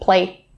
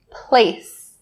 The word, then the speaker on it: place: The first one being the S sound in place. Just make sure that this sound is really clear. Do not drop it or skip it. Don't say play, play. That's something different. So say place, place.